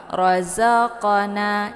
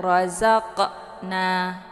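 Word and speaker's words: رَزَقْنَا: 'Razqona', ini dipantulkan. 'Qaf' memiliki kualitas qalqalah. Razqana. Jadi, pantulan di sini adalah pantulan ringan karena qalqalah ini adalah qalqalah sughra, bukan qalqalah kubra. Razqona. Jangan ucapkan 'rozaqna'. Ah, sampai bacaannya terputus. Razqana.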